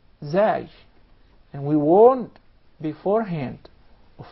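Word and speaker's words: ز: way of pronouncing the Zay and its proper articulation point. Watch this. As. Your tongue never comes out of your mouth. Yes. As. And there is actually a whistling sound.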